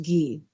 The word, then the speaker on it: Guy: So it's spelled Guy, but it's pronounced Gee.